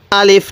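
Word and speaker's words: ألف: হরফটির নাম হলো আলিফ আলিফ টান দিবেন না আবার আলিফ এরকম ভাবে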